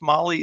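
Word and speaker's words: MAHLE: And for everybody listening to this, Molly is spelled M-A-H-L-E.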